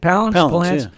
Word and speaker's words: Palance: Is that how you say it? Palance? Yeah.